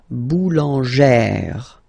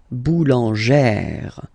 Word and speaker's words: boulangère: So if you add this final E at the end, then you will have to put this accent here, accent grave. Remember, when you've got this E plus this accent grave, you pronounce it like E, really open E sound. Okay, so boulanger, boulanger, and then feminine form, boulangère, boulangère. Same thing, don't insist too much on the final E, boulangère.